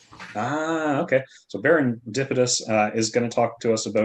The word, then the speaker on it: Baron Dipitous: your name baron yeah it is um yeah it's based on the word serendipitous ah okay so berendipidus uh is going to